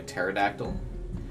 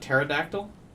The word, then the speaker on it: pterodactyl: __ ] is a pterodactyl then oh yeah there we go oh i'm just spelling it wrong the p is silent okay what is this